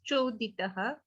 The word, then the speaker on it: चोदितः: And this is Choditaha. This is Chakre. So the C should be pronounced Cha.